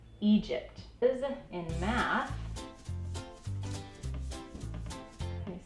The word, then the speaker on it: Egypt: This is Egypt. So this long E is because of the split. It's right before the split. Now the G says the J sound because remember G-I-G-E-G-Y, J, Egypt.